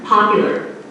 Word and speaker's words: popular: with this stress pattern popular da da da da popular the stressed syllable PA P unstressed youer youer youer youer again very fast low and pitch quieter popular popular stress on the second